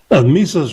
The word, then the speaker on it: Mises: Mises rhymes with pieces. Yeah, I always said Mises.